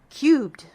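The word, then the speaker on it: QUB3D: Cubed. Cubed. Yeah. It's spelled a little funky, but you pronounce it cubed.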